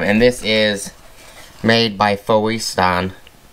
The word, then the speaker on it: Fositan: this is made by foe stan fosten fosten that's how you say it should be getting